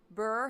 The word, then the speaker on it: bheur: Burr hag. Burr. It's a burr hag. Bheur. Burr. A burr hag it's almost weird that it's pronounced burr because it's supposed to be a cold thing.